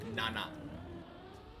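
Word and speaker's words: 七: be pronounced yon instead and seven can be pronounced Nana but yeah they basically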